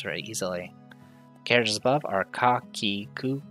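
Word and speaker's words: カ: tackle the first one this is ka or ka it's a consonant followed by a vowel a mix of a single syllable you pronounce this as call like in the word card if you study here at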